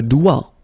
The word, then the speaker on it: doigt: Okay, so don't be frightened by this G because basically you don't pronounce it and then the final T you don't pronounce it. So the only thing you've got to pronounce is this combination of three letters, sorry, here. D, O, I, okay? O, I, it's wa and then D, doigt.